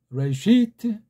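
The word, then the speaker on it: רֵאשִׁית: 레시트 여기서 알레프랑 요드를 자음으로 보지를 않고 있어요. 묵음 처리해버린 거예요. 그 대신 레를 길게 이를 길게 하는 거죠. 왜 빼요? 왜 빼 이걸 갖다가. 트는 그냥이다. 아무 모음도 없는 슈바니까 이거 부처럼 트. 그런 거예요. 레시트.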